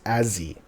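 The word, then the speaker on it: Azee: If you're saying his name with the short form, it's Azzy. Okay? Yep. So it's Azzy with, A-Z-E-E. If you say it the full name, it's...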